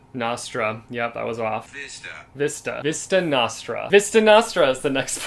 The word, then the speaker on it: Vista Nostra: I said that kind of questionably, like, am I in the correct in that pronunciation or am I not? Let's look it up. Nostra. Yep, that was off. Vista Nostra.